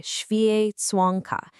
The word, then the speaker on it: święconka: So this practice is called święconka. That's pronounced something like święconka in Poland.